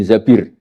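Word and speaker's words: الزبير: Kemudian saya nikah sama Abdurrahman bin Zabir. Di hadis ini bukan bacanya bukan Zubair, tapi zabir.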